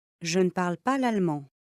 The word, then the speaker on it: l'allemand: Aí não pronunciou o E, não pronunciou S, não pronunciei o E aqui e não pronunciei o D, porque eu não falo l'allemande, eu falo l'allemand, l'allemand, l'allemand, l'allemand, tá vendo? Eu tô comendo esse E, esse D não está sendo pronunciado, esse S não, a